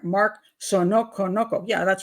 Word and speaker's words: Saunokonoko: Mark Saunokonoko.